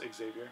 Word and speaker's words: Xavier: stupid it's it's pronounced Xavier it was one of those Rob lifel things that I knew that it's pronounced Xavier you're saying it wrong fair enough I don't